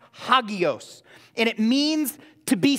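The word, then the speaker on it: ἅγιος: do that word holy in the greek is pronounced Hagios and it means to be set apart to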